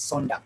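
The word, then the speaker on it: zondag: know yeah no okay in german it's sontak it's a song in german in in dutch it's sondag yeah it's the same it's almost the same okay good great uh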